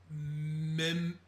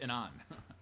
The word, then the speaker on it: Memnon: The last gold card is Memnon. Good luck. Memnon. Sure. Yeah. Sure. The Uthros Exile. I think the MMM is silent. It's just Anon.